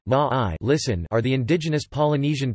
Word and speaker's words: Māori: The Māori, Māori pronunciation, Ma'ai, listen, are the indigenous Polynesian people of New Zealand.